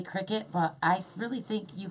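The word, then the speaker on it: Cricut: I always thought it was the cry cut, but I hear people saying cricket. Cry cut, because you're cutting.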